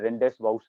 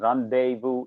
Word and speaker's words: rendezvous: time i read it i read it rendezvous i didn't know it was it had some french connection and the way it is pronounced is not that and rendezvous is the correct pronunciation they even focus on